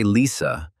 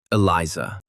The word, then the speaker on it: Eliza: Still with the same smile, the goblin asked not to say Lisa, but to pronounce Eliza.